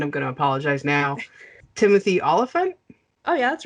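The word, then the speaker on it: Olyphant: gonna apologize now timothy oliphant oh yeah that's right okay cool uh because i didn't know uh uh so i've heard it olafant and oliphant so yeah and i'm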